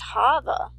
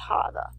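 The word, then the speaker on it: חוה: form of God's name but this one is pronounced hava which is the same as Eve's name Eve's name is pronounced hava and this word means to fall which is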